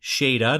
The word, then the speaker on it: Shada: our comic-con trip meeting Jeremy shada not Shana thanks to Katie Katie Elle for letting us know that we've been pronouncing his name wrong appreciate it yes any